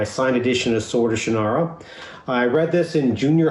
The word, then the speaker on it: Shannara: of the shinara series i know you pronounce it differently but you're wrong it's shinara that's what should be pronounced so again congratulations i